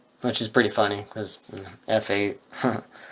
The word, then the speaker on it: F8: is pretty funny because f8 i think it's supposed to be pronounced fate but i'm not going to call it that yeah f8 anyway it's